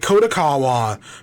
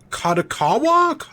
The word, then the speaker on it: Kadokawa: is in talks to acquire um kako or kakawa I've always for some reason in my memory it's kotak kaawa which is right I mostly know them from anime right kod AWA but it's kado kakawa yeah kakawa it's it's not what I thought